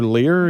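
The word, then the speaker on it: Leier: How do you pronounce his last name? Lear? Taylor Lear, yeah.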